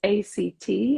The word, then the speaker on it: ACT: as a therapy so the letters act actually pronounced Act stand for acceptance and